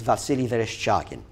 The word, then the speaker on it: Vasily Vereshchagin: It's by a Russian war artist whose name is very difficult to pronounce, but it's Vasily Vereshchagin.